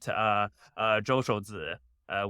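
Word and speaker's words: 周受资: But one of the talking points that is very clear that Zhou Shouzi, which is the Chinese pronunciation of the guy's name, is falling back on is Project Texas, right?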